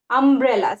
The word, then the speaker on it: umbrella: So you can see here, this is an umbrella. Umbrella. See how it is pronounced, how U is pronounced. When U is used in words, it is pronounced as A. Umbrella.